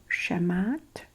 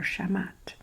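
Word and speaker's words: Shamhat: h a i think H is not pronounced so shamat shamat so bring the singer shamat and singer shamat she's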